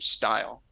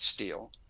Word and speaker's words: Steil: he knew nothing about that pronounced the name Steil. We pronounce it Steele.